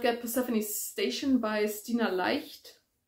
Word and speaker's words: Leicht: Then I've got Persephone Station by Stina Leicht, which is probably not how you pronounce her last name in English, but Leicht is a German word, so I'm going to say it that way.